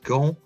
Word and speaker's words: gants: Don't pronounce that T. Des gants.